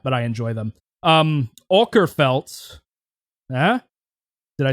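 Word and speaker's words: Mikael Åkerfeldt: Um Okerfelt, did I say it right? Did I say it right? Michael Oerfelt. Watch somebody's just somebody's uh It's Mikuel Oerfelt.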